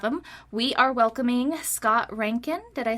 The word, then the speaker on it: Reintgen: We are welcoming Scott Reintgen.